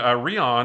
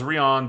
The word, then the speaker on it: Rion: and her boyfriend named Rion or maybe it's Ryan it's r i o n it's spelled like Lion but with an R but I thought Rion